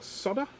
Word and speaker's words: solder: Someone said to me the other day that I don't pronounce the D in solder. I suspect that's probably just my Australian accent. So I do pronounce the D, it's just not as pronounced in my accent.